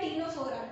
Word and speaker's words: Ctenophora: Phylum होता है टीनोफोरा, ठीक है, जिसमें सी साइलेंट होता है, ठीक है, टीनोफोरा।